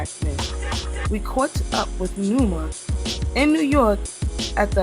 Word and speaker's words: Numa: So or they say Numa. or they say Norma. It's Numa.